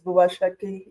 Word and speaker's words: Bhuva Shakti: Uh my name is Bwa Shaki. You pronounced it right.